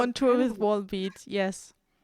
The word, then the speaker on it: Volbeat: with Wallbeat. Yes. Oh, is that how you pronounce that? I Yes. would have said Vollbeat. No, because there's also like only one L in that word.